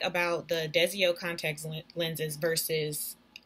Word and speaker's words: Desio: I got them from a company called, I believe it's pronounced Desio Lenses, and they're on Instagram